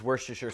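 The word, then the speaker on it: Worcestershire: of all Worster sauce Worster however you want to say it woster sauce as the Brits say is going to contain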